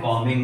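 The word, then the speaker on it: combing: कॉमिक मैं hair and कमिंग my hair यहां पे क्या होता है बी साइलेंट होती है जब भी आप बाल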